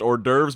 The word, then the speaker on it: hors d'oeuvres: ORS divorce club to know that it's actually pronounced hors d'oeuvres but it's just a huge mess here I